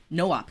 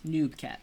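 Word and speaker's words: no-op: an error in Express no op ket not noob cat and I try to pronounce that noop cats with a P like but uh yeah it's no op because no operations I know it's the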